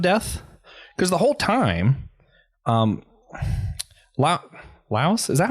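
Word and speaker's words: Laios: their perception of death, because the whole time, Laos, is that how I say his name? Laos.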